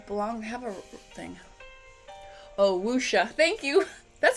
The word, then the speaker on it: wuxia: it's sort of like how i said wuxia which is wusha usha is that like